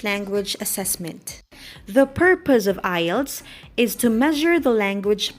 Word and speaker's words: IELTS: what is i e l t s hello friends today i am going to talk